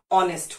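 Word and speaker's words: honest: है correct pronunciation है नेस्ट नहीं होता ऑनेस्ट होता है एच साइलेंट है हावर नहीं होता आर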